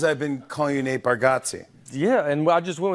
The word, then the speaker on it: Bargatze: I told you, I think you say our last name correct with Bargatze, and I think we say it wrong as a family. Bargatze. For years, I've been calling you Nate Bargatze.